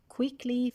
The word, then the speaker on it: quickly: syllable perfect first syllable quickly first syllable okay invent sentence using